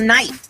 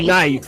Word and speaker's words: knife: What about knife? Where that K at? It ain't knife. Just say it. Knife.